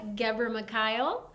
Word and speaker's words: Ghebremichael: Uh, my name is Gbery. Uh, it's an Eratrian last name.